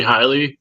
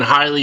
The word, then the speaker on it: Hiley: Hiley also does with the Bohmian. He's spell that and look it up.